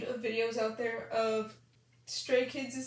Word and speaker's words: Stray Kids: videos out there of stray kids' name being mispronounced and as a result it became a joke among stays and two of the common mispronunciations are stress kids and straight kids and the latter straight